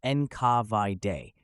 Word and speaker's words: NKVD: GPU pronounced gay and now nkvd pronounced enav de which is an abbreviation